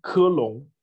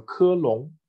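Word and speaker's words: 科隆: Und Köln heißt dann Kirlung, also Kirlung. Ja, auch wieder die englischsprachige Aussprache.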